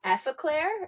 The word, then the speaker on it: Effaclar: I didn't even say the name, so it's La Roche-Posay and it's the Effaclar.